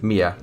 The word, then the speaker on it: minä: Like there's also if there's the word me in Finnish, which is minä, which you can take the n in the, so it's not minä, it's mia.